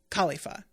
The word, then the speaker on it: Kalifa: And I think I've already said her name is spelled like Kalifa, like Wiz Khalifa, but it's pronounced like you're about to say cauliflower.